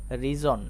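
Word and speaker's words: reason: কিন্তু এটার উচ্চারণ হবে রিজন। রিজন। খেয়াল করো এখানেও আমরা এস বর্ণটাকে দেখতে পাচ্ছি। লক্ষ্য করো এস এর আগে কি রয়েছে? হ্যাঁ এ বর্ণটা চলে এসেছে। এজন্য এখানেও আমরা এস কে জ এর মত উচ্চারণ করব।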